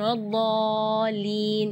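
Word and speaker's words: وَلَا الضَّالِّينَ: Terus setelah waladh di situ ada huruf lam yang ada di atasnya ada tasydid. Itu seringkali ketinggalan waladhdallin. Nah, itu berarti tidak ada tasydidnya.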